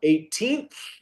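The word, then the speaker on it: eighteenth: espera, pronuncia un poco más la TH al final. 18th.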